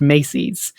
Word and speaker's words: macies: Weirdly enough, macies, M-A-C-I-E-S, also came to English in the 15th century as Macy's. Same spelling, but pronounced Macy's.